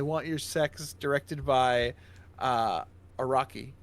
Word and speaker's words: Araki: And Greg Araki, is that how you say it? Araki, yeah.